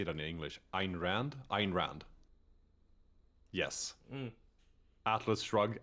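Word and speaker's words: Ayn Rand: Rand how do you say it in English Ein Rand Ein Rand yes Atlas Shrug and Ein Rand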